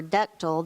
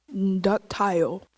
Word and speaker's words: ductile: gold and silver or ductile they were used for jewelry even prior to the development of sophisticated tools any alternate pronunciations yes that tile that tall ductile D you see T